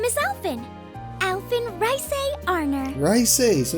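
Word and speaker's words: Reise: Rice, so it's pronounced Rice.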